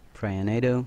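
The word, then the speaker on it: Piranhado: um skills play with toads explosive so it's pronounced prayer nado spirit walk jaunt summons OV dogs burning dogs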